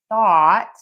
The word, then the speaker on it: thought: We're going to use that same vowel for thought even though it's spelled differently.